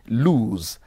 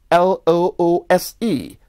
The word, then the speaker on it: loose: z sound in it while loose that is l o o s e has the s sound that's not all they